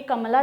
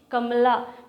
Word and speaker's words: कमला: और इसका प्रोनाउंसिएशन भी कमला दास इसलिए क्योंकि ये साउथ इंडियन राइटर थी. कमला ऐसे हम लोग कमला कहते हैं लेकिन साउथ इंडियन प्रोनाउंसिएशन इज़ कमला, इसीलिए उनका नाम कमला दास है.